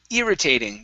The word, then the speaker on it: irritating: this word here is irritating the stress is at the very beginning instead of irritating irritating